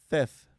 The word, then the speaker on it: Theth: How do you say it? Theth. Theth. I always say Theth.